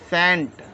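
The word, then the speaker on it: scent: पढ़ते हैं हम साइलेंट एस सी ई एन टी इसको हम पढ़ेंगे सेंट एस सी ई एन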